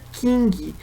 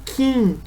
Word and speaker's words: King: a isso na verdade o sobrenome dele não se pronuncia King mas sim Quem então na realidade quando a gente se referir a ele a gente deve chamar esquecer esse G no final então fica só Stephen Kim Tá certo então era